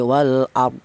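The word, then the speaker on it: والأرض: Cara bacanya ro tersebut dibaca tafhim ya atau dibaca tebal di mana cara bacanya wal ard ya seperti itu. Jangan wal ar tapi wal ard ya seperti itu.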